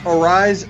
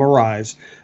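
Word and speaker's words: Arraez: Arias is I think, the way they pronounce it in Venezuela.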